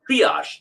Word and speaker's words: triage: according to Bruce Amos he did this triage triage this is how you pronounce it triage Theory and he says his